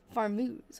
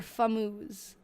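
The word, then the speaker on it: Fameuse: Thin skinned, roundish, ruby red, medium- small farmuz or famuz. Yes, not farm. Famuz f a mus.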